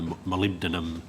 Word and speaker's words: molybdenum: on this and then move on to the molybdenum, that's how you pronounce it, yes.